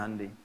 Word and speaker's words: Hyundai: ya Korea bikin hundai Hyundai bacanya hundai kemudian sana masuk Piala